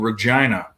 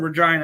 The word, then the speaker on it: Regina: There's a place called Regina. Regina, Saskatchewan, for the Rough Riders. Regina rhymes with vagina.